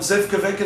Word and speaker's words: Zivkovic: And I have one of the prototype masks here that Ben Zivkovic, we call him Zivkovic now in America, again, because we don't pronounce anything.